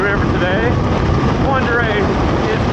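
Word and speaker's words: Pend Oreille: For a tiny little group, we're just going to be going along the Ponderay River today. Ponderay is not pronounced the way it's spelled, so don't try to do it phonetically, you'll never figure it out.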